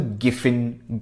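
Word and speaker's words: Giffen: that need to check out something called the gfin goods right it's spelled g i f f n Goods um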